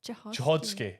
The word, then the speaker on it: Cichocki: Chichodsky.